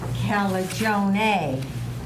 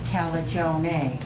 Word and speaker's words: Calagione: Calagione. Calagione. The E in Italian is an A.